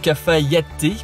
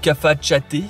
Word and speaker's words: Cafayate: Ça y est, on est arrivé à notre destination, donc Cafayate ou Cafachate, je crois qu'il y a deux façons de le prononcer.